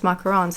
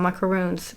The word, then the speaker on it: macarons: And here, of course, they know how to pronounce them as macarons and not macaroons. Please don't ever make the mistake.